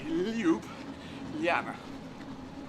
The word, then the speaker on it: Ljubljana: or anyone, any language, the J's turn them into Y's, and that's how you pronounce it. So L-Y, Ljubljana.